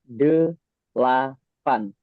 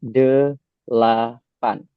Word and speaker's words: delapan: So after the number 7, there is 8 in Indonesian, where we usually call it as delapan. Okay, so it's 3 syllables. It's called as delapan.